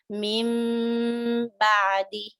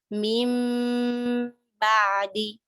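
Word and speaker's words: من بعد: What happens here is you would see a small meme on top of the noon, indicating that you're not pronouncing noon, you're rather pronouncing the meme because there is a ba following noon. So you say mim ba'di. You're counting 1, 2, mim ba'di, like that.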